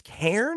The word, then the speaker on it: Cairn: We got a little bit more of I think it's Cairn is how you say this one.